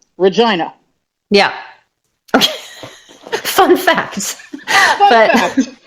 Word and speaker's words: Regina: Incidentally, that is how they pronounce the capital of Saskatchewan. Regina.